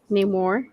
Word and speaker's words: Namor: neigh, like a horse, like neigh more. Namor.